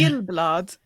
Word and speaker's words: Gyllblad: It's Gyllblad. So it's a soft G.